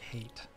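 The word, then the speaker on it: Haight: hello cute C Fort height or hate or something oh you can pronounce it like hate let's let's rust actually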